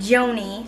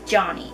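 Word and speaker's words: Joni: friend at work named Joanie I'm guessing that's how you say her name I don't think it's Johnny I think it's Joanie j o n i the only problem is Joanie doesn't know that he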